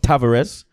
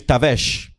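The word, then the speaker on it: Tavares: you that as well his name is not tavarez his name is noon his name is on nuno his name is noon leeroy lyrics oh you don't pronounce it all his name is tabesh he look good you understand one for the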